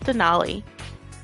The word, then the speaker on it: Denali: sometimes I'll say it but it's den knowly and someone says the